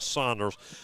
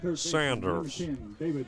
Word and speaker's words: Sanders: Of course, someone say that though it was spelled Sanders, it was pronounced Saunders for Uniota. It is indeed Sanders.